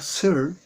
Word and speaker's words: Searle: Filósofos como John Searle, se escribe Searle, pero se pronuncia Searle, 1932 considera que la filosofía en la época